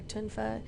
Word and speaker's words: tonfa: be considered what is a tonfa or tin fuh as my style pronounces it I would say it's